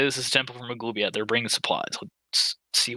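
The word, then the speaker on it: Maglubiyet: How do you say it? Maglubiat. Yeah, that's close.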